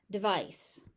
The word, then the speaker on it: device: Device. Dice. That first syllable is very short. De vice. Because all the stretch goes into the second syllable.